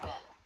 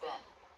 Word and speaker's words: been: Notice how bin, spelled with two E's, is actually pronounced with the I as in sit vowel. Listen again. Where the sails would have been. Where the sails would have been.